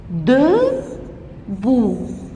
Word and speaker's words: debout: Il est debout. Le T ne se prononce pas.